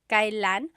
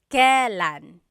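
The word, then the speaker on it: kailan: It's pronounced kan kylan but you will often hear it pronounced kalan.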